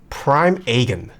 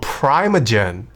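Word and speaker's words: Primeagen: how do you say how do you pronounce Prime aegon very wrong Prime oh Prime again prime again prime again he is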